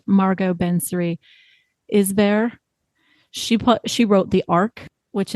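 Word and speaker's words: Margot Benary-Isbert: So, for example, I believe the author's name is pronounced Margot Bensary Isber.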